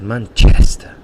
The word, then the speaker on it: Manchester: he's from Paraguay and he always laughs at my pronunciation for Manchester because he says Manchester and he really exaggerates the chest and that's where the stress is in that word in that noun